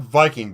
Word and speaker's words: Wiking: It's called Viking, but it's spelled Viking because it's German.